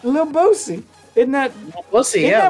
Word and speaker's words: Boosie: __ ] that's what that means it's lil bosey in that we'll see yeah one of your